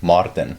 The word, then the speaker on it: Maartin: of the um like when you actually pronounce my name like so in south africa like ours are really strong yeah so when i introduce myself it's like martin yeah so that's how we say yeah and so what